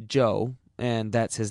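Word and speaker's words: Chu: is amazingly Cooperative Joe spell it c h u if you want to be exotic it still pronounced Joe and that's his name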